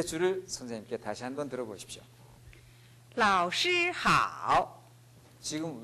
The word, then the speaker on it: 老师好: 그래서 老师好 이렇게 하는 것입니다. 유치원에서부터 대학생까지 똑같습니다. 다시 한번 들어보십시오. 老师好. 네, 이렇게 발음합니다.